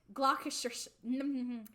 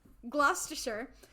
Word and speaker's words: Gloucestershire: to studly Castle and I know how to say this gloucestershire like Worcestershire gloucestershire to await the birth